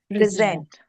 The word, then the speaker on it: present: And the moment you stress on zent, that PRE becomes weak. And we no longer say present, we say present. Present.